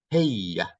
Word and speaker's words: هي: Hey.